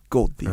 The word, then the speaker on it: Goldthwait: So this gold thief, but he's a real genius computer nerd gold thief, dude, and he's super good at hiding. The way you pronounce that, you're like gold thief.